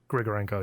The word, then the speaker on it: Grigorenko: Grigorenko, yeah.